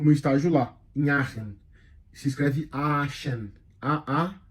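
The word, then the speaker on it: Aachen: particularmente fiz a o meu estágio lá em Aren se escreve aen a a c e n é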